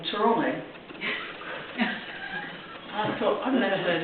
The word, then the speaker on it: Toronto: And for a while, my nephew lived in this strange place in Canada called Toronto.